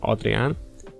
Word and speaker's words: Adrián: new channel called orcslayergendev my name is adrian or as we pronounce it here adrian as you can guess